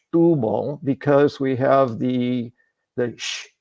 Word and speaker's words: Setúbal: And it made a ton of sense to me, because we want to say Setúbal because we have the sh s before what we think is a consonant, a T.